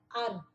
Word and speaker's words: er: O verbo é esse no infinitivo, mas o verbo no presente é er, que na verdade o é mais o r fica ar.